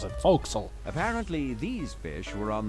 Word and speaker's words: forecastle: That's how you pronounce it. Forecastle.